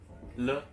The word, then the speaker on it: 了: Et le. L-E. Et Comme c'est le ton neutre. Donc il n'y a pas de ton.